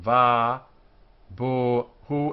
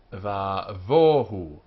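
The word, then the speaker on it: ובהו: Now, this b in Spanish and Portuguese is always pronounced b, va, bo, hu, with a dot or without a dot. In modern Hebrew, it is changed to v, va, vohu, but in Spanish and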